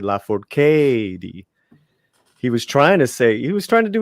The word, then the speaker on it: Lafourcade: Lafourcade.